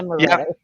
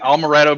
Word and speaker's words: amaretto: I'm calling it Almaretto because it's got almonds in it, I guess, but there's no L in it, so I'm just pronouncing it wrong.